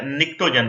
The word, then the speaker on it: pnictogen: तो फिफ्थ है निक्टोजन, पी इसमें साइलेंट है, निक्टोजेंस, तो अभी ग्रुप 15 है नाइट्रोजन वाला।